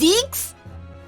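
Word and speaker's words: Zieks: Lord Van Zeeks, Mr. Vigil, Kazuma, and Gregson. Wait, it's pronounced Zeeks? Oh, I've been pronouncing it wrong this whole time. Damn. Zeeks? Okay, Zeke. Gotcha. It's Zeeks.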